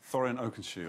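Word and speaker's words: Thorin Oakenshield: how do you say the the proper name Thoren oensi okay and what about this uh character I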